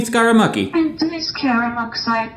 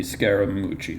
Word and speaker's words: Scaramucci: and man constantly mid-fart, Anthony Scaramucci. Pretty sure that's not right. Anthony Scaramucci. What? Anthony Scaramucci. I'm pretty sure that one's Italian. Anthony Scaramucci. That one sounds right, but I'd rather not say it like a mobster.